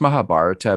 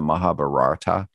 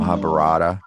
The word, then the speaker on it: Mahabharata: It's pronounced Mahabharata, but a lot of times people mispronounce and call it the Mahabharata. No. Mahabharata. Sometimes people call it that, which is, anyways, it's within Hinduism.